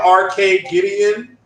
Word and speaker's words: Arcadegeddon: But it's this multiplayer shooter, Arcade Gideon. That's the way you pronounce it. I shout out to Marlon Gaming Nation. He has some issues pronouncing it. It's Arcade Gideon. It's like Armageddon.